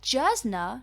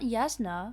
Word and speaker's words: Jasna: Also, it's pronounced Yasna? Oh, Jasna, not Yasna.